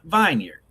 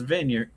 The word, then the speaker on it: Vineyard: Preston thinks vineyard is pronounced vineard. Argue with everyone in the room who was like Preston is vineyard.